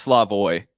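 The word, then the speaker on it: Slavoj: something yeah yeah and i think it's slavoy i don't think you pronounce the j but how was i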